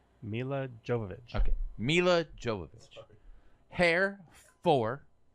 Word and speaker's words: Milla Jovovich: then one two five say how do we pronounce her name Milla Jovovich okay Milla Jovovich hair for it was you